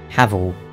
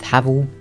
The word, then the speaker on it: Havel: but let's start with havl himself first up I am going to say havl not hav I don't know which is technically the correct pronunciation but I'm just going to stick with havl and when I say